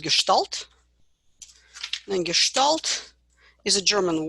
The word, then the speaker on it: Gestalt: And it's pronounced as Gestalt because in German, S and T, S before T is pronounced as Sh.